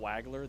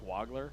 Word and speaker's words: Wagler: It's not Wagler, that it's Wagler.